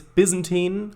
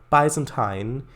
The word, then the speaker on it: Byzantine: it yeah it is there are different ways pronouncing it it's byzantine or byzantine other two ways because it is called byzantium the city so it makes sense to call the byzantine empire byzantine byzantine empire like babylon